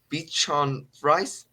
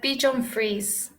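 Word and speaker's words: Bichon frisé: the type of dog called puddle and Bee Bichon fries did I pronounce right uh Bichon frize oh Bichon frize oh okay okay oh it's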